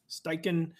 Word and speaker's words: Steichen: How do you pronounce his last name? Steichen.